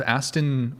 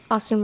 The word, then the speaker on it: Aston: Thank you so much man for chairs 25 and seven out of Aston Martin Ferrari. What? Austin Martin. Aston. That's how you pronounce it.